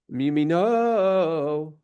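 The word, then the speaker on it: מימינו: Now, it could be sung mi yamino, right? Where the emphasis is on the second mem. But because the cantillation is on top of the nun, it is mi yamino.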